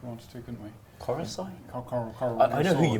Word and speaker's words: Coruscant: Coruscant? That's how I've always pronounced it.